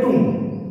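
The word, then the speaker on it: tomb: क्या बोलता है, टुंग, इसको प्रोनाउंस करेंगे टुंग, ठीक है। एम बी जब होता है साथ में स्पेशली तब बहुत बार क्या होता है, बी को साइलेंट करके इसको टुंग बोला जाता है, ठीक है। तो written as टी ओ एम बी but pronounce as टुंग, ठीक है।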